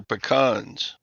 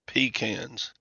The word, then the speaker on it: pecan: tree in the backyard those are pecans not peans well depends on where you're from in the country n doesn't matter where you are pan is the wrong way to pronounce that Hank have you been